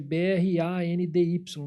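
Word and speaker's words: brandy: o destilado, o vínico, blend se escreve B-R-A-N-D-Y, não é blend, é brand.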